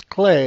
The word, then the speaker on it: Klei: is one of the Clay Corporation's people, and that's how you pronounce K-L-E-I is Clay. It's a Dutch company.